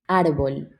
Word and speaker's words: árbol: Árbol. Ar- Árbol. arbol? Yeah, it's like a bowl, but árbol.